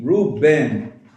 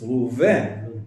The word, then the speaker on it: Reuven: Just like in the Reuven, it says in the English with a B, Reuben, but really it's Reuven. In the Hebrew, there's no dot in the bet, so it's a vet, so Reuven.